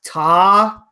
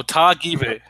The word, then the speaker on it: Tagive: How you pronounce Penny's last name is Tagive. So it's like a hard first syllable. It's on his Baylor Bears football profile. So there you go. So Tagive.